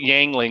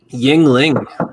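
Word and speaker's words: Yuengling: going to be right yangling nobody calls it yangling not even West Virginia yangling sounds pronounced yangling yeah you smelt it wrong isn't it EU I thought it was EU no that's how it is Yingling you're all wrong it's y-i-n-g-l-i-n-g that's how you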